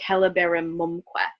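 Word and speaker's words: celeberrimumque: Celeberim mumque, the stress does go on mumque. Whenever you have que at the end of a word, it shifts the stress to the syllable right before it because it's an enclitic.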